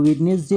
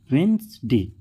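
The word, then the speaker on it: Wednesday: हम क्या करते हैं इसको वेडनेसडे पढ़ते हैं लेकिन एक्चुअल में यहां पर जो डी है वो क्या होता है साइलेंट होता है एन के पहले डी है मतलब वो क्या होगा साइलेंट होगा ये हो गया वेनसडे तो फिर इसको हम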